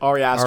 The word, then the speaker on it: Ari Aster: Ari Aster.